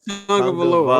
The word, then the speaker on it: Tagovailoa: Tua Tagovailoa. Okay. Yeah, I can pronounce Giannis' last name, but this nigga name I be fucking up all the time.